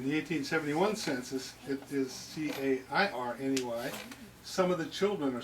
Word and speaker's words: Cairney: Yeah, it's Cairney. The ones in Ireland were Middle English spelling, C-E-A-R-N-A-I-G-H. Pronounced in the Middle English as Cairney.